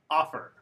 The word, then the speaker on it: offer: rule so for example listen offer open are all two syllable verbs but the stresses on the first syllable these are the exceptions